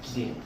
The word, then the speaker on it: Ding: So actually the indigenous pronunciation is Frederick Ding. Ding? Yes. Ding. Yeah. So it's like you pronounce Christian Dior.